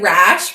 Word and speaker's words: Raasch: So I say it like Raasch, but that's not the correct German pronunciation, so it's whatever your heart desires.